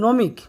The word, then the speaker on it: gnomic: GNOMIC উচ্চারণটা হবে নমিক।